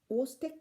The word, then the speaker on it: Chvostek: So these are called Ostek sign, where CH is silent, and it's spelled as Chvostek sign and pronounced as Ostek sign, CH silent.